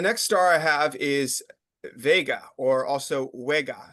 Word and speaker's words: Vega: Uh the next star I have is Vega or also WGA. So the V and the W are kind of interchangeable. So um I've heard it mostly pronounced as Vega.